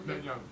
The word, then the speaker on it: Netanyahu: Because when you bring up Putin, when you bring up Netanyahu, how you pronounce his name? Netanyahu.